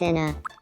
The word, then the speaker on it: Ena: Like Joel G has specifically said like it's basically the Spanish pronunciation that you have to use.